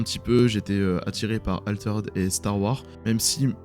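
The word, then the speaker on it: Altered: du petit nouveau français alterd ou alter red pour ceux qui prononcent à la française et enfin le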